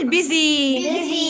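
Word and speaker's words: busy: مزدحم او مشغول، بيزي.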